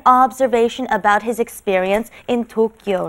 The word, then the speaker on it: 도쿄: is not that word this the japanese pronunciation right is tokyo so tokyo nin again